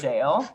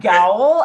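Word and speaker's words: gaol: Is that word pronounced jail? Yeah, I would have said Gowl, and then you would have been Gowl, like, what? Gowl Jail, same thing, but it's the old way of pronouncing it.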